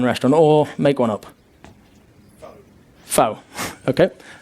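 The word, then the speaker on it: pho: FO. Okay. P H O. It's actually Vietnamese, but uh it works. It works. It's fine. I'll go with that one. And it's pronounced fur.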